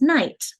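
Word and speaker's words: knight: So it used to be knecht. And now it's night. And so we've changed how we pronounce it, but we didn't change how we spell it.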